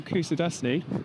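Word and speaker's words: Kuşadası: So Kusadasi, is that how you say it?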